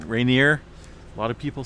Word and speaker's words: Rainier: uh pronounce mount rainier for longest time i've said rainier but i'm pretty certain that it's uh rainier a lot of people